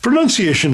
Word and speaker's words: pronunciation: Pronunciation is correct. Yeah, and not pronunciation. Not pronunciation, no. Yes. Pronunciation. And it's actually linked to enunciation.